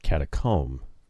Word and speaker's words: catacomb: Must be a British pronunciation, because Americans pronounce that catacomb like we would a comb for your hair.